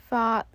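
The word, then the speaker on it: 髮: In Cantonese, hair, fa, has the same pronunciation as fa, which means to become wealthy.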